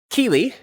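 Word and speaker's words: kili: the branches of a tree next we have Keeley k-i-l-i it's drawn with a representation of an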